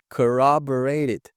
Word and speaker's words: corroborated: Veja que eles têm duas sonoridades diferentes aqui dentro dessa palavra. Primeiro temos ele aqui com o som de k, a. E aqui ele tem um som mais puxado para o O do nosso português. O. E aqui de novo tem o som de a.